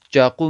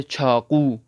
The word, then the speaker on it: چاقو: مثلا چاقو مت کہے بلکہ کہے چھاقو، اس طرح سے، تاکہ آپ لوگوں کے لیے اور بھی زیادہ سٹرونگ ہو جائے انشاءاللہ.